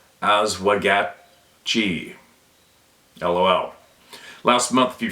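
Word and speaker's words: Oswegatchie: the middle branch of the oswegatchi River that's pronounced as wagat G LOL last month a few friends and I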